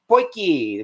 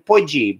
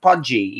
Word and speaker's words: potjie: a uh south african poikie which i know that's how they pronounce it or maybe even budgie but it is not pronounced pudgy even though that's what it looks like and it looks like